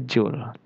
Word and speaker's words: Joule: tool seperti itu ya Ce bacanya Jul ok kmudian untuk m